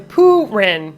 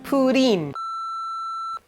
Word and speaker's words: Purin: I'm going Purin, but it's Purin.